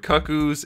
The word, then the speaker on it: Cuckoos: this figure is that many people don't know how to pronounce that word i've heard cuckoos i've heard cuckoos it is cuckoos just for those of you who are unsure this is